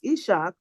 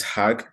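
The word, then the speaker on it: Is'haq: AK cuz I think it's Isach not okay. It's actually it's hag I S apostrophe H AQ.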